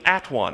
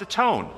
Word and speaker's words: atone: And it quickly, very shortly after the word one, became at one. I'm going to go at one them. But it was pronounced atone. Why was it pronounced atone? Because that's Old English pronunciation.